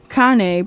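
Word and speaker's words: Kāne: or '97 it says Kane Kan pronounced Kan is a major Hawaiian God of fresh water or way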